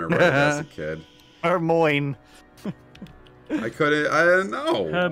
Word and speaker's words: Hermione: just like uh and harry potter it was her moin the entire time i wrote it as a kid hermione i couldn't i don't know yeah and i